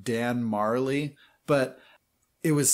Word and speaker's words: Majerle: game and everybody's like no his name is dan marley like that's just how you say it i'm like no they